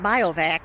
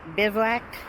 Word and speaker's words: bivouac: was just corrected that it's not biovac, it's bivouac.